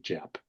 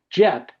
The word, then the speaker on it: Jeph: of my life and no one's ever called me Jeep. I've never run into a JP either, but I and and sure enough, I hear like a cue. I hear over the loudspeaker, Jeff, call on line one. So, I take the call and then I wander down and there's a lovely young woman and I said, listen, I understand. I know that it's confusing. It's spelled weird and you're Canadian on top of everything else.